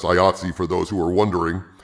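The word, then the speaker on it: IATSE: there is an iats e strike which is pronounced iot for those who are wondering presumably indy 5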